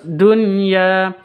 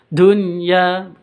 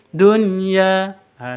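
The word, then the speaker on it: دنيا: sama-sama assyamsiyah terus Dunya ini nun sukun bertemu dengan Ya ini bukan idgham bunah bukan didengungkan tapi di apa namanya dijelaskan atau seperti zhar zhar Fi Kalimati Wahidah namanya jadi izhar jelas bacanya Dunya seperti itu bukan Dunya bukan seperti itu tapi dunyaah seperti itu terus ya ini panjang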